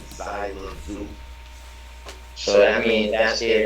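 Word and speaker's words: Xelajú: Zina Mayu, and they all both start with an X. It's pronounced Zina Mayu and Zyla Zoo.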